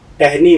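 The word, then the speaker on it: ٹہنی: तो टे हे जेर टह, टह, नून ये जेर नी, टहनी। टहनी।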